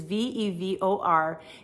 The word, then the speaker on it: Vevor: I actually have a vacuum sealer that was sent to me by a company called Vever or Vevor. I'm not sure how to say it. It is Vevor.